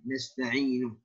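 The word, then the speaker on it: نستعين: Sedangkan kata nasta'in dibaca dengan memfathahkan huruf nun nasta'inu.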